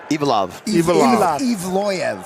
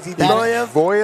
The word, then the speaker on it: Evloev: Evloev is what it is. Evloev. He's John Hack's brother. So I get in big trouble, but I was saying punch that second okay. syllable. You focus on that syllable. Evloev. You're in business.